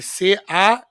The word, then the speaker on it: Canaan: Para quem quiser procurar, né, que sei que vocês gostam de procurar, né, Isaiah normal, Canaan, que C-A-N-A-A-N. Cannonball. Se pronuncia Canaan.